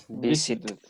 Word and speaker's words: visited: The ed Visited. verb ending sounds like id, visited.